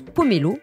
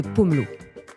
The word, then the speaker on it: pomelo: à tort pamplemousse et qu'on prononce pomélo au lieu de pomelot vous savez cette petite